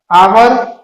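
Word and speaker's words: hour: जैसे एग्जांपल में आवर क्या है, H, this is silent word in द आवर, है ना, तो ये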